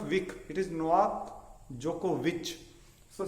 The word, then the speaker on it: Djokovic: In the same way, Novak Djokovic, #1 tennis player, it is VIC only, but it is not Vic, it is Novak Djokovic. So C sound pronounces sir, k and ch sound.